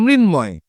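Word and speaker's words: মৃন্ময়: কি হবে মৃণ ময় মানে ডিরেক্ট ম ফলার উচ্চারণটা হবে এইরকম করে আরো কিছুর চিন্ময় উচ্চারণ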